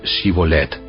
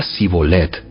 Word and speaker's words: Shibolet: Si decía el hombre: No, no lo soy, ellos le pedían que pronunciara la palabra Shibolet. Si era de Efraín, diría Sibolet, porque a la gente de Efraín le cuesta pronunciar bien esa palabra.